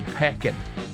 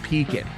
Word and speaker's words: Pekin: Or you might see Peckin, or you know, it's Pekin, Indiana.